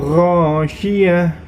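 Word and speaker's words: غاشية: Kemudian yang selanjutnya Ghasyiyah. Ghasyiyah di situ terdapat huruf sya, ya. Sya-nya yang tebal, maka cara membacanya ghasyiyah.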